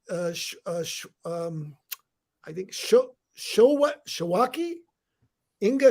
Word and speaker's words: Świątek: Okay, now I've got congratulations to Inga, and it's pronounced I think Shawaki. Inga Shawaki.